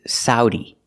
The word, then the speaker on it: Saudi: have the this country this country has three pronunciations the best one or the most common one is Saudi Saudi Arabia using the sound a like cow and how sa Saudi Arabia but